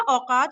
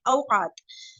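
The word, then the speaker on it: أوقات: अच्छा इसको ना औकात औकात नहीं बोलेंगे हम ना, अरबी में पूरा उसको प्रॉपर इसको प्रोनाउंस करेंगे औकात।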